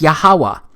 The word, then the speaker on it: Yahweh: But this YHWH, it's pronounced as Yahweh, because it turns out that the language was so simple back then that it vocalized each consonant with an ah sound without specifically marking that sound between consonants.